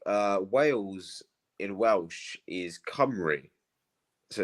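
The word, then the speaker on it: Cymru: l-l-i-t-h and like uh whales in Welsh is comrie so it's pronounced Camry but it's spelled simru so like the the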